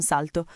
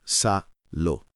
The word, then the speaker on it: salto: L'unica attenzione è sulla T in salto. Doppia, quindi va marcata. Sal to. Non salo e facciamo un salto diventa veloce.